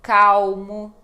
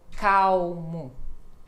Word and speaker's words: calmo: legal funil Uhum Então som de u ou quando ela está no meio de palavra e não tem uma vogal depois como em calmo alto exatamente som de u alto calmo podem praticar vamos praticando